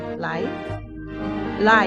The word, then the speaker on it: Wang Lai: Que pronunciado sem W. One L. Wang. W. L.